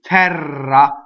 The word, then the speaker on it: terra: Okay, terra, open E, double R.